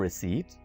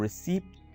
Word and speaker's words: receipt: बहुत ज़्यादा लोग इस वर्ड को रिसीप्ट बोलते हैं, यानी वो इसमें पी को भी प्रोनाउंस कर देते हैं, जो कि बहुत गलत है. So, आपको क्या प्रोनाउंस करना है? Could I have a receipt? Receipt. यानी यहाँ पर पी को आप खत्म कर दीजिए, साइलेंट कर दीजिए, ठीक है?